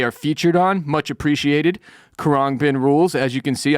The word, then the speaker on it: Khruangbin: Khruangbin came in at number 3, and I'm not even sure how to pronounce that. Khruangbin. It's Khruangbin, if you're unfamiliar. Khruangbin is how I say it. And when I say Khruangbin to Siri, she plays the correct band, so I think I'm saying it right.